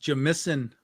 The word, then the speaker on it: Jamison: It's pronounced Jamison. Yeah, that's how you say it in Canadian.